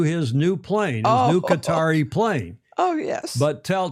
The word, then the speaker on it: Qatar: Apparently there was a match race between an American flag boat and a Qatari boat. Speaking of Qatar Cutter some people would pronounce it in Doha earlier this week.